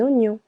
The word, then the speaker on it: oignon: La lau la laus un oignon here in French G and N together also letter I silent Oignon de l'ail de l'ail.